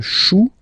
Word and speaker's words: chou: Then, un chou. Okay, remember, when you combine this C and H, you get the sound sh.